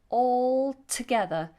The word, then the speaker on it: all together: together all together now we do pronounce this L all together even though it might sound like we don't we do the tongue tip touches the roof of the mouth all all together all together so make